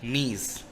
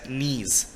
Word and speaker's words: gneiss: तो it's B, gneiss. Here G is silent. Okay, तो GNEISS can be pronounced as gneiss.